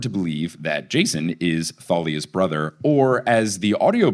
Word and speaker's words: Thalia: in the TV show they were like, "It's Thalia."